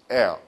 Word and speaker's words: heir: 발음 어떻게 한다고요? heir.